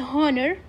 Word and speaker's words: honor: الالف فنعمل معاملة الفاول an honor وليست honor فنعاملها معاملة الفاول الـ A نحط on.